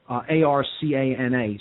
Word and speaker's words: Arcana: schools they would call these two general bodies Arcana AR CA na sometimes pronounced Arcana uh the two Arcana are again